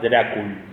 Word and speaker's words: Dracul: Había creado una orden para la defensa del cristianismo que era la Orden del Dragón, que en esa época dragón se pronunciaba Drácul.